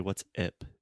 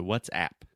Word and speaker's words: WhatsApp: say uh uh what's and then app that is a very open a sound where it's just the same sound as like apple cat hat disaster master and a lot of students want to say what's IP like e like bed red but it's more open so what's app WhatsApp perfect perfect what's